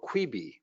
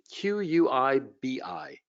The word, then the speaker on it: Quibi: Jeffrey Katzenberg just shut down an operation called Quibi. I think that's how you pronounce it, Q-U-I-B-I.